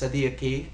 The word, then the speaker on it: صديقي: Notice the qaf in صديقي. It's a little bit more emphatic than perhaps صديقي if you were going to say kaf, but this word is spelled with the qaf, so it's more أهلا صديقي.